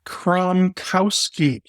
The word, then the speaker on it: Kromkowski: Today I'm joined by Kromkowski. You got it. All right. Too good. I know it's a long Polish one, but it does sound just like it's spelled. It's just a long spelling.